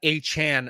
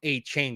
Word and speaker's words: Achane: And I'm getting used to that Achane, not A-Chain. Got to pronounce the name right.